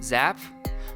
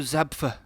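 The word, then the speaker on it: Zapffe: Peter Wessel Zapp? I'm not pronouncing that right. Peter Wessel Zapf. Peter Wessel Zapf.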